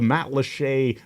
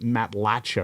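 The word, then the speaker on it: Matlacha: that's spelled m-a-t-l-a-c-h-a and it looks like it should be pronounced Matt lacha or something yeah it looks like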